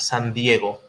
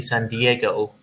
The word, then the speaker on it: San Diego: be dangerous then dangerous the the right pronunciation is exactly as you said it san diego because it's a spanish name it's a spanish saint actually um but the way you would hear it from an anglo-person would be san diego diego it's fun diego is